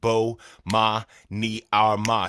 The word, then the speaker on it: Bomani Armah: to the morning announcements imma say my name so you can pronounce it Bo ma ni Arma shout out to early